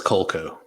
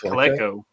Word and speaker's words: Coleco: I thought it was Colco. Colco. Is it it's Coleco.